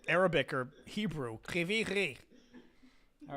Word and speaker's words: Kryvyi Rih: Actually, are you not pronouncing it Russian instead of Ukrainian? Because wouldn't Ukrainian be the H? No. In the Russian that means Krivoy Rog. Oh, okay, that's different then. Okay. Yes. Kryvyi Rih.